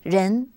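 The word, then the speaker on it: 仁: Pro proposed a Chinese confusion concept which is pronounced Ren essentially this character written character is made up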